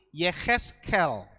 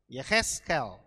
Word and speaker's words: Yehezkel: Yehezkiel ini sebenarnya kita bacanya bukan Yehezkiel saudara, tapi Yehezkel. Gitu, Yehezkel.